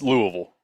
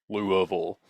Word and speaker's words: Louisville: swallow it movable yeah you gotta swallow it yeah go talk like